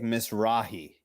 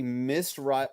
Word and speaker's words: Mizrahi: hasn't written there Isaac Mizrahi like she seriously miss rut as she is mispronouncing the name she wrote on there yes she can't pronounce